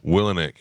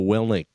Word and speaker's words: Willink: Willenick. How do you say it? Villainic? You're both wrong. What is it? It's Jocko Willink.